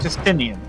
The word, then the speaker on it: Justinian: Just I I've been saying it wrong. Justinian Justinian recounts the history of